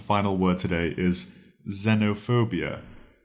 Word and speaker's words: xenophobia: word to today is xenophobia xenophobia it's spelled x n o Zeno p h o b i a phobia xenophobia this word comes from Greek